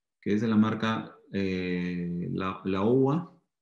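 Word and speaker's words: Laowa: Hay unos lentes que es de la marca la UA, como se pronuncia en chino, la UA, que ya tienen capacidad de magnificar o podemos adaptar.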